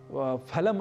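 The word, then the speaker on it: फलम्: दिया करते हैं उसी तरीके से यदि हम फलम अस्थ ऐसा हैं तो संस्कृत में यह अशुद्ध उच्चारण होगा तो हमें अशुद्ध उच्चारण नहीं करना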